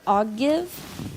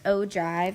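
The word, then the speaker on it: ogive: this is a weird word it looks like I'll give but it's pronounced Oh Dr and it's a graph that represents the cumulative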